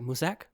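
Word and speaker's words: Mousesack: So the king and queen have Siri locked inside the tower by their court edition mouse sack or musack. Mouse sack. Yeah. His name is actually pronounced like musack but it's spelled spelled mouse and then sack.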